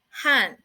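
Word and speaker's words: 旱: And the pronunciation of it is han.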